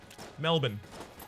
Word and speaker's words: Melbourne: Bourne Identity right but we pronounce it mal bu n Melbourne Oh Melvin Melvin Melvin